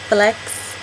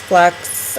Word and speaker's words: flux: in Los Angeles um the flux capacitor not Flex you're right I said it wrong I said Flex it's fux I think it's an